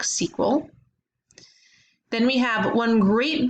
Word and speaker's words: SQL: a proc SQL statement we can pronounce that is proc sequel then we have one